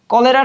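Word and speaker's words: cholerae: এখানে একটু খেয়াল করি, এখানে হচ্ছে AERAE, সো এই যে RAE এইটার মূলত হচ্ছে যে এ শব্দটা সাইলেন্ট থাকে। সাইন্টিফিক নামে আমরা এরকম অনেক কিছু দেখবো যেখানে তিনটা একসাথে থাকবে, তখন আমরা কি কাজ করবো, মাঝখানেটাকে সাইলেন্ট করে শেষেটা ধরবো।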